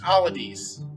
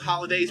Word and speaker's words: Holidays: Pronounced Holidays, as in all of these things. I just butchered it. But yeah, it's spelled Holidays, pronounced Holidays.